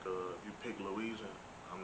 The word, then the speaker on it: Luigi: By the way, I'm glad you pronounced it right because a lot of other folks be saying Luigi or Luigi. I be like, nah, Wow. Luigi.